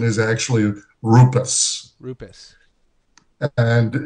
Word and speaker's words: Rupes: the information about our company and the correct pronunciation of the name is actually a rupess so the you need to rule the are